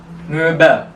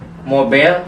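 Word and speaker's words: Möbel: e b e l mobel Jadi bukan Mobile tapi o-nya o Um laut artinya perabot perabot oke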